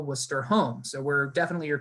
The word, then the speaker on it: Worcester: course is worcester so i know that looks like it says warchester or warcester i promise you it's pronounced worcester and we are a